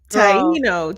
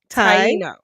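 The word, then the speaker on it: Taíno: Tyino. Just think Tai like Thai food. Tyino.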